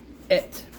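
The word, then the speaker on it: את: So, et is how it's said, Aleph Tav.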